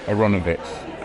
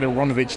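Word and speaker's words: Aaronovitch: and I found that if you pronounce it in the kind of vaguely fake Slavic way which is aranovich right people don't make any mistakes okay so I started using aranovich right and of course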